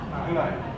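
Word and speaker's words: Hlaing: Hulai.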